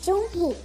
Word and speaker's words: Jun-hee: nome verdadeiro é Park Jun-hee, Jun-hee. Então, os dois E's tem som de I e o H tem som de R, Jun-hee.